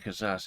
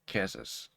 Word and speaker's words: Kaszas: a like And subscribe I keep saying kazas it's czas I'm pretty sure it's c um I keep pronouncing that wrong I don't know why